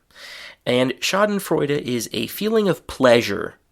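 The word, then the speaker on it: Schadenfreude: So the German pronunciation is very similar shoden fida and in English it is shoden frea and shoden frea is a feeling of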